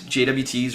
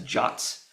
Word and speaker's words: JWT: These JSON Web Tokens defined in RFC 7519, and by the way, the RFC specifically says that JWTs are to be pronounced as JOTs.